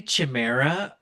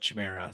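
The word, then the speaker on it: chimera: gardens they had um how do you even pronounce this the Chima c h i m e r a i say Chima and the only reason I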